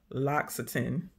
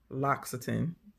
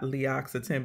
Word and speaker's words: L'Occitane: and they had a video on how to pronounce the name and it's it's L'Occitane L'Occitane not lee occitan because the of the apostrophe after the L so it's called L'Occitane so anyway here I went in there cuz